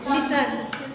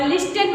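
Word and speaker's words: listen: जैसे लिसन, आपका क्या हो गया LI, लिसन बोल देते हैं, क्या बोलेंगे लिसन, लिस्टन, हाँ लिस्टन मत पढ़ना है ना, टापटी।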